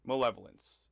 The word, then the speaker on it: malevolence: Today's word of the day is malevolence. Not to be confused with male violence, often attributed to JWC Mondays. When trying to pronounce malevolence, think maleficent, not to be confused with shield, also referenced multiple times in this episode.